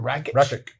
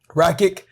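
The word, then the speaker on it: Rakić: Rakic. Rakic.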